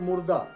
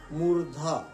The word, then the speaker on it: मूर्धा: मूर्धा तो कहेंगे मुर्दा, नॉट मुर्दा। ध्यान रखेंगे, द नहीं ध, मूर्धा। मूर्धा कहाँ है बता चुके हैं, टच करना होगा, पहचानना होगा, ट कहिएगा, ट ठ ड ढ, मूर्धा में टच करेगा जीभ। उच्चारण करके देख लीजिएगा, पकड़ा जाएगा मूर्धा आपका। नो नॉट मुर्दा, मूर्धा, मूर्धा है।